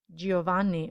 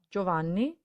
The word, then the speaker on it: Giovanni: giusto but just similarly we don't say giovanni or giorgio but giovanni and giorgio now repeat the last